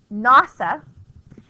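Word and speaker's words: NAWSA: So now we have the National American Women's Suffrage Association, which is pronounced NASA, and the National American Women's Suffrage Association, they're going to be led by a woman named Carrie Chapman Catt.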